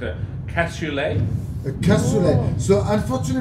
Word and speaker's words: cassoulet: And Nadine is suggesting, and I'm going to get my pronunciation correct, a cassoulet.